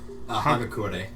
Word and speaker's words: Hagakure: Hagakure.